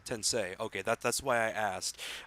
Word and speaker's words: Tensei: a spin-off of the shin Megami Tensai series did I pronounced that correctly no it's sensei tensei okay that's why I